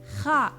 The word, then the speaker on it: خاء: Kha. From the upper throat emerges the letter kha. If you know Spanish, it's the jota sound in the word jabón.